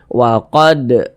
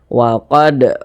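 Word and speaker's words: وَقَدْ: tanda sukun ya atau huruf Dal ini dia mati kita lihat di samping huruf Dal termasuk salah satu huruf Qalqalah kalau dia sukun ya dipantulkan cara bacanya dan ini termasuk kepada Qalqalah Sugra atau Qalqalah kecil karena dia berada di tengah bacaan waqad waqad seperti itu pantulkan waqad farum farum kemudian di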